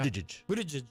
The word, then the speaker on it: Buttigieg: Buttigieg. That's what I Yeah, go. yeah. Buttigieg.